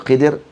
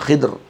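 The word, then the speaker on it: خضر: Khidir alaihalam saya Khadir Boh baca Khadir boleh baca Khidir boleh baca khidr ada banyak cara bacaan nama Nabi Khidir disbut anal Khadir falui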